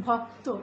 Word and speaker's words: ভক্ত: যেমন ভক্ত, এখানে ভক্ততে কিন্তু কযুক্ত সংযুক্ত রয়েছে এবং তার সঙ্গে অ রয়েছে, অ থাকার কারণে আমরা এই তয়ের সঙ্গে উকার উচ্চারণ করব।